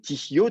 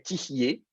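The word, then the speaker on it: תִּהְיֶה: alors si on dira, on va mettre tihio, tiktol, hein, pensez à tiktol, tihio, c'est pas ça que vous aurez. Vous aurez tihié, et ça va s'écrire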